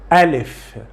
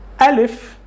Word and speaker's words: Alif: But for the moment, this letter in Arabic that has this sound in English, we pronounce it, or we call it Alif. Alif. Alif.